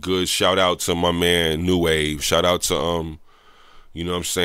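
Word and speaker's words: Nu Wave: But it's because there's so many new waves. You gotta spell it N-U. It's like it's spelled new wave N-U. But it's the it's like RG Pasadena boy in them.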